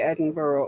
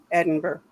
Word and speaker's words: Edinburgh: Malcolm was the guy at the Edinburgh or I know I said it wrong. Edinburgh.